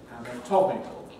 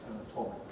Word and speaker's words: anatomical: anatomy, to me, unstressed, but O in the strong not vowel in anatomical, where it's stressed, anatomical.